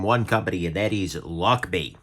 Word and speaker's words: Lochby: company and that is luck be uh spelled like lock b right on there but